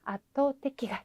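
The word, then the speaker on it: 圧倒的: 아또라고 발음이 변하기 때문에 여기가 이렇게 타금인 경우에는 발음이 바뀌지 않죠. 그냥 아츠도라고 이렇게 해야 되는 거죠. 그래서 답은 이쪽에 오른쪽에 있는 아토테키가 되겠습니다.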